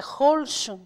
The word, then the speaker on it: Holschuh: Qual é a pronúncia? Holtio. Não é difícil, né? É Holschum.